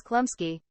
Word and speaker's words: Chlumsky: It has come to my attention that the actress' last name is Chlumsky.